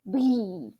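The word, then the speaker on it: भी: I have heard of the version of bhi, like kind of you have b and you have h sound, and some is just pronounced all together, kind of like mujhe bhi. Like it doesn't hear the that much. It's more like breathing out the air.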